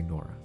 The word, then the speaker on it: Nora: It's Nora. Well, in other countries, they probably pronounce it a different way, but for me, I say Nora.